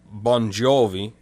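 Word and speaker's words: Bongiovi: And obviously he phonetically spelt it this way so people could pronounce it, because the G and the I is a J in the Italian dialect or Italian language.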